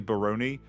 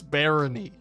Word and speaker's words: Barony: this game so I just called it mentally Baron and then the second I said it while